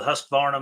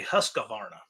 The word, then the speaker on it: Husqvarna: time went with the Husqvarna made in America. Yeah, well, there's a lot to be said for that. Or if you're from where I'm from, you say Husqvarna. It's got more syllables in it.